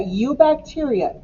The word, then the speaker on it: eubacteria: All right, we're looking at eubacteria. EU sounds like the word you.